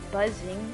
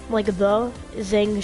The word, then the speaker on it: Zang: It's on Twitch, and just look up the Zang Show. Okay, wait, Buzzing Show? What? No, the Zang Show.